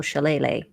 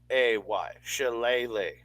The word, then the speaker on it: shillelagh: know how to spell shillelagh. I don't know how to spell it. I just spell it phonetically. I like wacky stick. Wacky stick. SHILAYLAY. Shillelagh. Shillelagh.